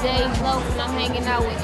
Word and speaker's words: Dej Loaf: Dej Loaf, am I saying it right, girl? Dej Loaf.